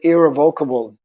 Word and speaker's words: irrevocable: Just like, for example, the word irrevocable. I used to pronounce it irrevocable.